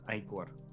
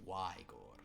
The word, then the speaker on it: Igor: It is pronounced Igor. Where? Here. It is, in some places, we pronounce it Wygor, as in why gore him when you can cut his head off?